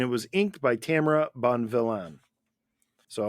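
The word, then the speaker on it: Bonvillain: was Inked by Tamara Bon villan so I hope I pronounce that sounds like Bon villain Bon yeah Bon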